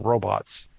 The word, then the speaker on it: robot: It's I don't know if you've seen or heard old discussion of robots in like videos or audios, but it used to be pronounced with a U, robot.